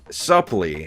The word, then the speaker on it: Supplee: Supplee.